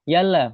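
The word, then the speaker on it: يلا: Atau kadang mungkin menggunakan yalla bukan bukan ya Allah ya mereka bilangnya yalla bacanya seperti itu.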